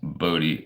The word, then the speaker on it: Bodhi: Pronounce Bodhi as like body.